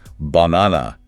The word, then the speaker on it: banana: Oh, banana is the perfect example. It's often pronounced by learners as banana giving equal weight and clarity to all three A's. Right? But in real speech, the stress is in the center.